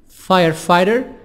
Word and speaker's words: firefighter: not safe firefighter firefighter t soft D between I and II gh silent firefighter gh silent and t softly but yet sativa silent